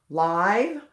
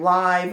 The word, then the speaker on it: live: Live, I saw the program live on TV. All right, so it can be pronounced either way, live or live.